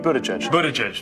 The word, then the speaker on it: Buttigieg: Oh my God, Pete Buttigieg. Pete Buttigieg. You try saying the name of South Bend, Indiana's mayor. I'm Pete Buttigieg.